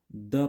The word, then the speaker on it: the: उसी तरह vowel starting noun जो होगा, ठीक है, जैसे अंट है ना, तो अंट हम लोग का क्या है, वोवेल साउंड से आ रहा है। तो वहां पे हम लोग द को क्या पढ़ेंगे, दी पढ़ेंगे, क्या प्रोनाउंस करेंगे, दी, ठीक है।